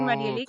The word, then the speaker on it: Marielix: my name is Oh, Marielix. come My mom on. is Rosemary, and my dad is Felix. But that pronunciation, that mixture between the I and the E, is very challenging to pronounce.